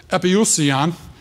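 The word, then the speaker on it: ἐπιούσιον: gives the definition, and this is how I found that you pronounce it epiousion, was from him.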